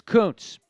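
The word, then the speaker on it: Kuntz: Koontz nope Zach Koontz it looks like a different pronunciation but it's Koontz uh somebody just asked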